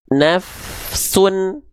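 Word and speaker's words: نَفْسٌ: dibaca Sin lagi tapi sinnya harus dibaca menjadi Sun Nah karena apa harakatnya domahtain Maka kalau kita baca dengan perlahan seperti ini alimat nafsun bisa dipahami bisa dipahami enggak teman-teman Jadi dibacanya UN dengan vokal konsonan UN ya lagi lagi lagi lagi lagiimat nafsun Nah gitu Jadi dengan bunyi vokal n vokal konsonan n ya itu yang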